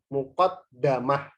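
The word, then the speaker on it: مقدمة: Ada juga yang membacanya di fathah dalnya. Muqaddamah. Tapi ini sedikit. Tapi ini jarang.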